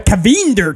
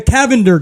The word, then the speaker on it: Cavinder: I butcher that unless they were like the kavinder twins right the I is an EBC the Cavender twins this is an article from people Sean